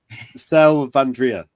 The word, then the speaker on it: Selvandrea: talk about and I I'm going to probably pronounce this slightly wrong the fall of sal sal vandria perfect yeah that's good thank you um could